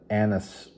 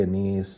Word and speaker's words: anise: particulation of shad and anise oil. I know people say anise, anise. There's different ways to pronounce it.